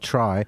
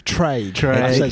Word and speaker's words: Traigh: Um I suppose first of all tell us a little bit about Try and your connection to it. Is it Tel Clyde said it was Trey? It's spelled T. It's pronounced try and it means it means beach in gic.